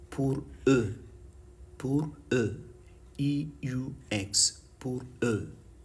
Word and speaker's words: eux: For them in French is called, for them is called pour eux.